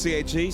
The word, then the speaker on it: CAG: CAG. Because it rhymes with gag.